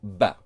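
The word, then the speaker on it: بَ: So the ba letter here becomes ba, as if you added a short a letter to the ba letter in Arabic. So when you have the dash or straight line above the letter, you pronounce the letter as ba.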